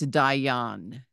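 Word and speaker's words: דיין: which is a judge it goes with the word Dean but it's Dion Hau ha y so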